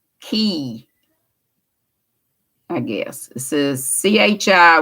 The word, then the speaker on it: chi: i guess this is chi which is pronounced with the hard ch like the k in the latin alphabet okay the greek key